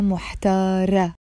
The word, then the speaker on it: محتارة: In the feminine, you would say أنا محتارة with the A sound in the end.